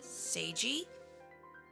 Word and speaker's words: Seiji: And before we move on, it is Seiji. Seiji, Say. not Se.